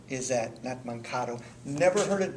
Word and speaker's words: Mankato: of looks like this and this is where man Cato is that nut Mankato never heard it butchered that way but first time this is